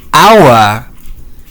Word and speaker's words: hour: Anyway, uh the example of Silent H. Oh, the word is hour. Well, I know I know our and our sound the same, but but they have different meanings, though.